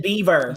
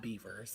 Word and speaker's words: Bieber: I to Justin Bieber. Yeah, again. And you will stop mispronouncing his name. You will stop mispronouncing his name. Bieber. Bieber. Justin Bieber. Not Beavers, I know, but Oh my God.